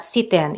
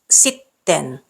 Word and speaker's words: sitten: Pronouncing double consonants correctly is crucial in Finnish. Treat it like it's a matter of life and death, because it is. So it's not siten, it's sitten, not milloin, milloin, not viko, viikko.